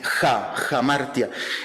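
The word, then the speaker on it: ἁμαρτία: fue la palabra en griego o bueno se pronuncia la a es jamartia y Y esa palabra en griego es la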